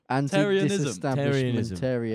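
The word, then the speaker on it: antidisestablishmentarianism: Oh, you're putting a T on the end. Where's the T coming from? Anti-disestablishmentarianism. Not a T. Anti-disestablishmentarianism. Anti-disestablishmentarianism. There you go.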